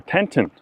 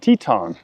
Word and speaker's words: Teton: I also used to say Grand Teton or Tenton, and it's Grand Teton, not what I was saying.